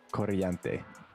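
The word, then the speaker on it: corriente: Coriante. You gotta roll your R.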